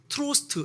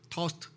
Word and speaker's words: Trost: 그냥 우리 흔한 영어식으로 하면 트로스트 이렇게 읽으면 될 것 같잖아요. 근데 아니더라고요. 제가 아까 검색을 해봤어요. 어떻게 읽는지 발음을. 토스트. R자가 약간 묵음 같아. 그래서 토스트? 하여튼 그렇게 읽어요.